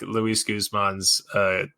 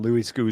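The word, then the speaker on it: Guzmán: I believe it's Guzman, Luis Guzman. Yeah, Luis Guzman. I'm pretty sure it's correct.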